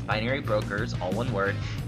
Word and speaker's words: BinaryBrokerz: n a r y but the name Brokers is spelled b r o k e r z instead of s so it's binary Brokers all one word b i n a r